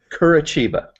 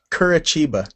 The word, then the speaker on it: Curitiba: How do you pronounce it again? Curitiba. Curitiba.